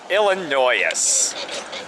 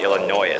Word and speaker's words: Illinois: of the 767 album well well well illinois illinoisus it's good to see you leave and for those of you don't realize i am joking when i say illinois i realize it's pronounced illinois i had someone